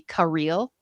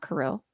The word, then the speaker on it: Kirill: fact you know it's actually supposed to be Kil not Caril no no Kil I learned that today is